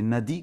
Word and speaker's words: nadi: noi comme ils disent les petits a sont sont prononcés un peu haut c'est Nadi comme on dit c'est